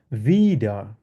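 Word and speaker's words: wieder: আর এটাকে ডব্লিউ কে আমরা জার্মানে কিভাবে উচ্চারণ করি? ভে উচ্চারণ করি। ইংলিশে যেরকম ভি আছে, ভের মতো আমরা উচ্চারণ করি। তাহলে কিভাবে এটা উচ্চারণ কিভাবে হবে? ভিডা।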